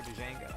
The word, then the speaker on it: Django: That's a sick design for Django. Hell yeah. Oh, the D is silent. It's just Django.